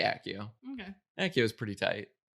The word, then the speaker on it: Accio: I like the sound of Accio better. I do but too. in general English pronunciation, 2 C's is this, I'm gonna say Accio.